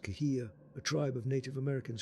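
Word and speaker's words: Cahuilla: Most likely she is a Kolilan, pronounced Kahia, a tribe of Native Americans who once lived on that land.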